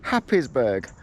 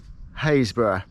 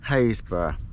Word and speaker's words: Happisburgh: at a place called if you look at it you would think it's called happiesburg that's h-a-p-p-i-s-b-u-r-g but you'd be wrong because you know around the country there's lots of local pronunciations and obviously this is spelled haysbrough it's obvious isn't it so there it is written down hayesbro read that again haze bro obviously so it's quite an